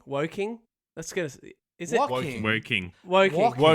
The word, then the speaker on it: Woking: and a very orange trophy cabinet brewing in walking. Woking.